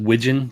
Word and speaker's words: Widgeon: Uh it's pronounced wijon just like the duck.